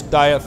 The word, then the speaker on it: Dieth: Dieth, runner. Dieth. Yeah. Think King's English. Dieth.